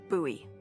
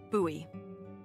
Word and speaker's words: Bowie: out this huge Rusty Bowie knife it's actually pronounced buoy what no it's like the last name like David Bowie different last name buoy are you just messing with me no that's